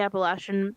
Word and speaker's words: Appalachian: The Appalachian Mountains.